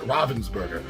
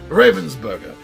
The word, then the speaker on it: Ravensburger: of ravensburger robinsburg and some people pronounce it robinsburg i don't know if that's a european versus american pronunciation or not i don't know but i'm saying ravensburger so uh the first one